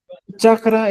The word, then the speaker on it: chakra: chakra, ¿cómo se dice en quechua? Ya chachi, chakra. Chakra es chakra, así. Chakra. Ya está. Chakra. Ah, ya. ¿Ya? Igual que en castellano.